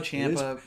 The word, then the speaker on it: Champa: Champa. It is pronounced Champa.